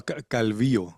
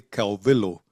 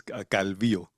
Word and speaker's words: Calvillo: It's a calvio in Spanish but my teachers used to say calo or really it's calvio.